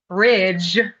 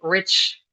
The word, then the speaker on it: ridge: So instead of saying ridge with the voiced um voiced consonant cluster, German speaker and Russian speakers tend to say rich. So you really got to pay attention to the difference.